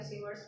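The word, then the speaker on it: Savart: तो इसका तरीका ये था, पूरा एक्सप्लेनेशन इस डायग्राम से दे दीजिएगा, बायो सेवर्ट्स लॉ का थोड़ा सा इंट्रोडक्शन दे दीजिएगा, बायो और सेवर्ट ये टी साइलेंट है, इन्होंने जो है ना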